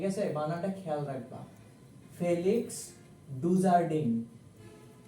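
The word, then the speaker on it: Dujardin: medium student ঠিক আছে এটার উচ্চারণ ফেলিক্স ডুজারে এটা আমি তাও তোমাদের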